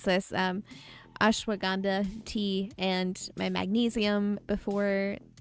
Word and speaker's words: Ashwagandha: Ashwagandha. I'm pretty sure that's how it's pronounced.